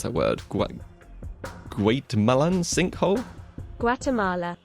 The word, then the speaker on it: Guatemala: I have no idea how to pronounce that word. Guatemalan sinkhole? Guatemala.